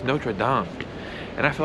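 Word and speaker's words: Notre-Dame: you guys understand something really quick it's not notre dame it's actually pronounced notre dame and i feel like a notre dumb ass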